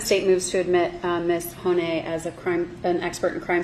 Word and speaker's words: Hony: Hony. Hony.